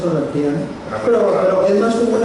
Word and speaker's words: Orrantía: el licenciado Francisco de Orrantía. Orrantia. No, lleva acento en la... ¿Es Orrantia? Bueno, ahora es Orrantia, ¿no? Es Orrantia, o Orrantía, lleva acento. Orrantia. Entonces, si lleva acento, creo que es Orrantía, ¿no?